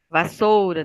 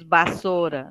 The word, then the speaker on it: vassoura: Horizonte termina com e vassoura Tem muita gente que diz bassoura não é bassoura é vassoura tem um U ali ó vassoura tá pássaro ã